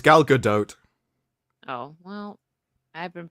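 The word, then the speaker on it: Gal Gadot: have standers it is also galgadot it's not galado I thought it was pronounced galado it's gal good doe oh well I been pronouncing that's the way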